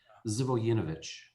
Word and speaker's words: Živojinović: And the correct way to say your last name, and Adrian's last name, my proper surname, Zivojinovich. Zivojinovich. Wow. Everyone messes it up. Zivojinovich.